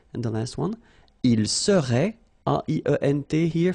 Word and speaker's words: serait: Je serais, same thing here, final S not pronounced. Tu serais, final S not pronounced. Il serait, final T not pronounced.